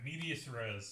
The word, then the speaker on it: medias res: I meant to ask you how I'm supposed to pronounce this place. Medias Res or whatever. Medias Res.